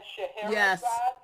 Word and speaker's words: Scheherazade: Okay, is that Scheherazade? Yes. Scheherazade's Groove. Yeah? Did I say that right? Yes, you did.